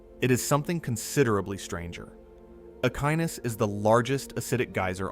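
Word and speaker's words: Echinus: Ekinus, pronounced Akinus, is not one of the geysers that appears in most Yellowstone tourist photography.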